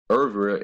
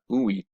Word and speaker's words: Ewe: in a previous article the proper pronunciation of the name of my people was irv and not oohy all right so i